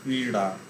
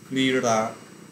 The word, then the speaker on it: ক্রীড়া: ড উচ্চারণ হয়, কিন্তু সেটা যদি শব্দের শেষে বা মাঝে থাকে সেটা ড উচ্চারণ না হয়ে র উচ্চারণ হয়, র।